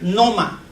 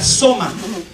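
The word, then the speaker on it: σῶμα: Noma. Es un tanto difícil, pero esta palabra noma, o soma, perdón, la palabra que usó José de Arimatea es una palabra griega, soma.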